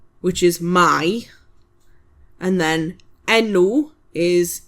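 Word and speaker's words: enw: So it's v f y v which is my and then nu is e n w and it's name.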